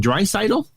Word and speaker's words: Draisaitl: And Draisaitl, is that how you pronounce it?